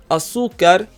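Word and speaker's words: azúcar: be an accent mark Asuka means sugar Asuka ends with the letter R meaning the stress should be on the last syllable but in reality we stress the second to last syllable we therefore add an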